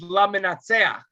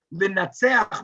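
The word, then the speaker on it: למנצח: But laminatseach can also be pronounced another way. Linatseach means to be victorious. And you could pronounce it in the active form, like for the victor. But actually, laminutzach is how this midrash reads it, for the one who is defeated, the one who is vanquished by his creations.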